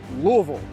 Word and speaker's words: Louisville: how we say it in kentucky you may pronounce it as louisville or louisville but we call it louisville with 179 men george rogers clark stepped off